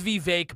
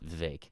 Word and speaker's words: Vivek: my guy yeah and it is Vivek by the way it's Vivek it's not it's vague no he said it's Vivek rhymes with cake right he said that